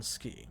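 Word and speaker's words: Skie: I need to remember her name is Ski because everyone keeps pronouncing it that way, and I want to call her Sky because I feel like Ski is an odd name.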